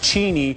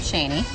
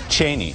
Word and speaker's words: Cheney: record straight on something Chris Matthews says it's pronounced Cheney and the family pronounces it that way Liz Cheney how do you pronounce your last name I pronounce it Cheney Cheney and it has been